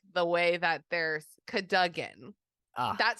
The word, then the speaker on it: Cadogan: Okay, Jim Dale says Jim Dale says like Oh, Sir Cadogan. Cadogan. Yeah. Yeah, that's true. I was Maybe like, I've been what? saying it wrong the whole time, or maybe Well, I I don't said Cadigan.